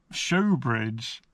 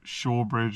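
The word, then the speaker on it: Shaugh Bridge: talking about uh me and my dad bickering about the pronunciation of Shawbridge or showbridge which is sh h a u g h.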